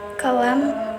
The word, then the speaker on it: column: The letter N will become a silent letter when followed by the letter M. For example, atom, condom, column, and hymn.